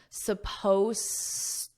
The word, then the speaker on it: supposed: Let's confirm the pronunciation because this Ed is silent, you don't hear it supposed to. So I say to. But this, it just sounds like the present.